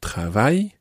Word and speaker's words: travaille: Now, travail, in this situation, is spelt differently from the word I work. Je travaille, that is T-R-A-V-A-I-L-L-E, and mon travail, my work, the word travail there is spelt T-R-A-V-A-I-L, mon travail. But they sound exactly the same.